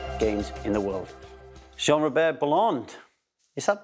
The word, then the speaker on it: Bellande: Someone, I was looking at an old interview and someone was calling you Bellande. I was like, that don't sound right. Yeah, it's Bellande. I'm half Chinese, half English, which didn't give me the easiest childhood when I was younger.